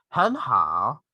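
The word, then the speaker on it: 很好: So you just say 很好, 很好. The first word, the first syllable is in the second tone or the rising tone.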